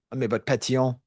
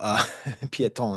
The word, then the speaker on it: Pétion: Not Henri Christophe, but Pétion, who Piéton is how you say footpath in French.